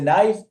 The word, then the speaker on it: knife: When you say talk, L is not pronounced. When you say knife, K is not pronounced.